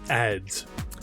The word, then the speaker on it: ADs: a fool mton fool abbreviated as ad and referred to in common conversation as ad or ads pronounced ads automated dependence is a catch-all